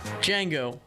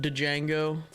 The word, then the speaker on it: Django: It's spelled with a D. Okay. I always thought it was like Django when I was a kid, because I didn't know there was a silent D Django name.